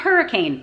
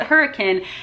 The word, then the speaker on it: Hurricane: a half hour away from hurricane it's not hurricane it's spelled hurricane but they pronounce it hurricane and hurricane has it in an out burger